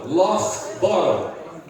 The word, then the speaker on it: Loughborough: John Norton Loughborough. Pronuncia com F. Põe um F aí.